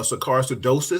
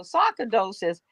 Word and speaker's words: sarcoidosis: question he says so scarce I hope I'm pronouncing this right is that uh sarcasidosis so sometimes of the lungs you were close of the lungs so sarcoidosis like lupus like like several other conditions um